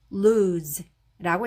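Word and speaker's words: lose: 그리고 여기에 s는 s는 소리도 있고 소리도 있는데 여기서는 소리가 났습니다. 그래서 발음해 주시면 되고요. 그리고 여기에 끝에 오는 이도 묵음으로 소리가 나지 않아서 끝에 홀로 나는 자음은 으 붙여서 루즈라고 읽으시면 되고요.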